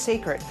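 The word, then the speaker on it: Cécred: It's spelled C-E-C-R-E-D, but pronounced Sacred.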